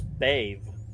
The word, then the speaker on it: Bayve: Actually, that's Bave, is how that's pronounced.